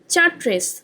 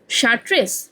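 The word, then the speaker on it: Chartres: ভাস্কর বলল, এটা তো দেখছি চার্ট্রেস। অসীম বলল, একটু আগেই বললুম না CH এর হবে স। ভাস্কর বলল, শার্ট্রেস?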